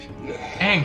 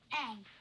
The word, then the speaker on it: Aang: Aang. Aang. That rhymes with Meng.